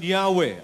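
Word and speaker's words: Yahweh: Ano ang sabi diyan while inclining to view the pronunciation yahwe as the more correct way we we have retained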